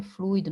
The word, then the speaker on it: fluido: Agora, observe que a pronúncia é fluido, não é fluido. Então, aqui eu tenho ditongo. Se aqui fosse um hiato, fosse fluido, aí sim seria acentuado, porque o i estaria sozinho numa sílaba formando um hiato. Mas nesse caso aqui eu tenho um ditongo. Então, não é acentuado, tá certo?